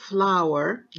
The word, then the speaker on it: flour: طيب كمان عندك كلمة flower دقيق تختلف عن flower زهرة. flower دقيق F-L-O-U-R. flower زهرة F-L-O-W-E-R، والاثنين يتنطقوا بالضبط بنفس الطريقة flower، تفهميهم من سياق الكلام flower و flower.